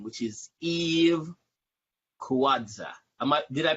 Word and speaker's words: Kawadza: There's also another name, your real government name, which is Eve Kawadza. Did I pronounce it right?